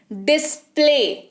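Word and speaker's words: display: ए वाई साथ में लिखा हुआ आता है, तो वो ए जैसा साउंड करता है। लिखा हुआ ए वाई दिखेगा लेकिन उच्चारण ए जैसा होगा। जैसे डिस्प्ले, ए वाई दिख रहा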